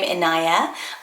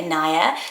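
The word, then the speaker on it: Inaya: read more about it it's the name anayia i n a y a Ania SS comes up as Ana but the pronunciations that come up most often you let me know how you say it and I'm sure it can be said either way was anayia it's at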